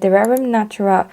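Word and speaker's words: De Rerum Natura: knit this with the Dererum Natura Juliette. I think that's how you pronounce it if you pronounce it the French way, because it's a French brand.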